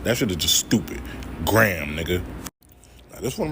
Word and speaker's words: Graham: This shit is just Graham Ave. Like Graham, like, yo, let me get a Graham. Graham Ave. Not Graham. Graham or whatever the fuck. That shit is just stupid. Graham, nigga.